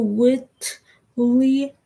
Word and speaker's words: Whitley: Mr. Whitley, like the word wit, and then L-Y, Mr. or L-E-Y, Mr. Whitley. With any one of those spellings, even though I put L-E-Y, it could still be pronounced the same.